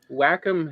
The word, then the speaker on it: Wacom: a wacom tablet which by the way is pronounced wacom i know a lot of us want to pronounce it wacom because it sounds better but if you listen